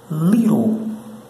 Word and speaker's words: little: Ah, né, litre, né? Esse negócio aí não. Não se lê litre, não. Não, não, não se pronuncia dessa forma, não. O pronunciado certo é little, little, little, little. Pronto.